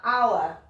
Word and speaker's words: hour: Celui-là, il faisait bien partie de la liste, un hour. On ne prononce pas le H dans ce cas.